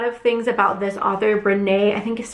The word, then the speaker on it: Brené Brown: And I've heard a lot of things about this author, Brené, I think is how you say her name, Brené Brown.